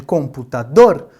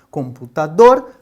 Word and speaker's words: computador: Então, no caso de computador, computador, dor é a sílaba mais forte. Nós então consideramos essa uma palavra oxítona.